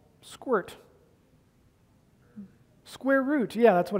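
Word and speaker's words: sqrt: Library it has a function in it called squirt yeah that's what it's actually called but it's spelled squirt so if I give it a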